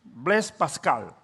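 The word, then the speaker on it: Blaise Pascal: dios y tenía una profunda fe en dios blas pascal así se pronuncia su nombre y él dijo varias frases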